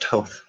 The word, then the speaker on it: Thoth: would call him to or Thoth is what they call but it's pronounced to I think Anubis is